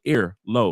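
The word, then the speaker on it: Airalo: The other thing And Airlo is spelled like air low, like AIR low, Airlo.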